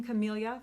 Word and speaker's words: Camellia: it's a host only stamp set call me camilla thank you so much for letting me know the pronunciation of that last week um calming camellia